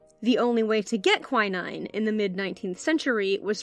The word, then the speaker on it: quinine: a synthetic version of quinine if you're a British listener you're probably used to hearing that word pronounced queening rest assured I'm talking about the same thing I just have a funny accent in Perkins day quinine